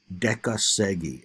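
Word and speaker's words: dekasegi: workers well there's this tradition in Japan called Deca Segi and that's spelled d-e-k-a-s-e-g-i and if you're reading the text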